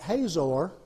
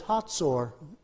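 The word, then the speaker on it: Hazor: really a Germans II the Germans Z is pronounced like a TS and it's actually a TS sound in Hebrew and so it's hots or is the pronunciation hots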